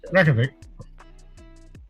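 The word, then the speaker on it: Reykjavík: Reykjavik.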